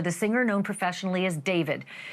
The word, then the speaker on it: D4vd: Literally for the singer known professionally as David, spelled D4 VD. I know it's strange, but it's pronounced David.